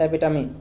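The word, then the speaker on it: epitome: Pronunciation देख लो एक, तो क्या है इसका मतलब, एपिटमी, ठीक है।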